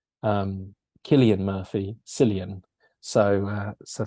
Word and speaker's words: Cillian: mean it's it's gonna happen I still apparently pronounce um Killian Murphy Cillian so uh so there you go